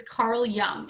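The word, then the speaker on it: Carl Jung: of the swiss psychiatrist carl young it looks the j is uh pronounced ya so it's carl young and you might learn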